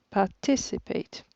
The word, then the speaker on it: participate: accentuée dans ce mot si la deuxième syllabe qui accentuait participate un dernier exemple l'aiment